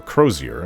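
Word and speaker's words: Crosier: called the oak and crossier or crozier is how she pronounced it the other is called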